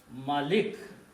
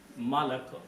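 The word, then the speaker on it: مَلَك: So the word is Malak. The only difference is there is a fatha and a kasra between these two words.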